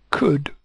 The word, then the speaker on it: could: town Town Hall could could with a silent L ah we are happy